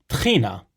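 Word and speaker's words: טחינה: a fan of it trina this is how we pronounce tahini in hebrew the tahini you'd find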